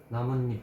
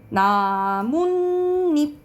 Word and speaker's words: 나뭇잎: 그리고 우리가 나무 플러스 잎 이거 어떻게 발음 나니? 이어서 발음해봐. 어떻게 나? 나뭇잎. 나뭇잎 이렇게 발음 나지. 나뭇잎 이렇게 발음 나죠.